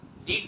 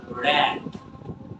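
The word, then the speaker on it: read: the passage two বি রেড বানানোর একটাই উচ্চারণটা হবে রেড রিড হবে না রেড ইট is high time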